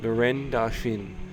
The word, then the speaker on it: Laurent Dauphin: for Connor Murphy and Laurent Dauphin, if you say his name as a Frenchman, which I just did.